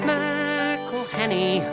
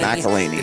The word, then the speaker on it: McElhenney: It's McElhenney, what ways to massacre and mispronounce it there are many. McElhenney.